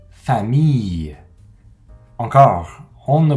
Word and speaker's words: famille: d'un mois en français on prononce à un peu comme si c'était une y y comme dans le mot famille encore on ne prononce